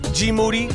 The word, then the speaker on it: GMoneti: GMoneti. Yes. Rhymes with duty.